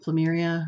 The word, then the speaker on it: Plumeria: If you were in Bath and Body Works and you remember the Plumeria, that's how you say it, scent, that's what this reminds, has that scent to it.